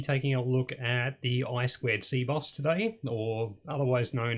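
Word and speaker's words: I²C: actually works with i2c i typically will pronounce it i2c simply because it's easier even though technically it's i squared c um so we'll have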